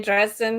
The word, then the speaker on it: Dresden: Am I saying Dresden right? You are. You're exactly right.